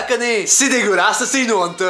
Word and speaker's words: Canet: Alors il y a des touristes qui savent pas prononcer Canet qui disent canette.